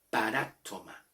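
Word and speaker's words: παράπτωμα: En el griego, la palabra falta en el griego se pronuncia paraptoma. Paraptoma. El acento está en la A, paráptoma.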